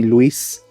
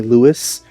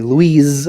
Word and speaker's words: Luis: Some people call me Louis. And then some people call me Louise, which I actually don't like. I prefer people call me Louis than Louise for some reason.